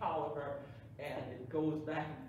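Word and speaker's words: Taliaferro: you know this is the pole white folks pronounce t-a-l-i-a-f-e-r-o that we call a cow Barrel they call it Toliver and it goes back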